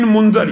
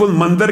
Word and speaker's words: منذر: نعمان بن منذر، یہاں پہ بھی بات ہے، بعض اس کا تلفظ منذر کہتے ہیں، بعض منذر۔ ان کا